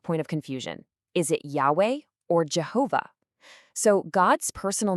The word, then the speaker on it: Yahweh: Today, most scholars agree that Yahweh is probably much closer to how the name was originally pronounced.